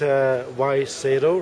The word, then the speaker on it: Wai Seto: and I'm here with Y Seto, right? Yes. Is that how you say it?